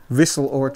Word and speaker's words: Wisseloord: How do you pronounce the studio? Wisseloord Studios. Wisseloord? Wisseloord. Wisseloord. Studios.